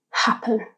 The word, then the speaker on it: happen: When we say the word out loud, the stress is on the first syllable, ha, happen, ha. So we don't need to double the final consonant when adding a suffix.